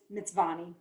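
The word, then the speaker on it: Mtsvane: Shaulari Cellars, and the way you pronounce the grape is Mitzvani.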